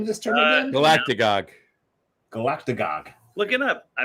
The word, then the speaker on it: Galactagogue: Galactagogue. Galactagogue. Look it up. I might have made it up. Can you spell that?